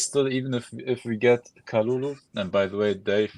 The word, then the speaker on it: Kalulu: by the way, Dave, you're always writing his name wrong with Kulalu. It's Kalulu. Kalulu. Yeah. Add another variable. I didn't add a syllable. I just swapped some U's and A's, some vowels.